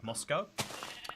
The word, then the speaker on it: Moscow: even more interesting is they'll pronounce it Moscow and I believe it has like the univers the state's like biggest university it's it's very intriguing like lots of people know mosco Idaho um so uh losing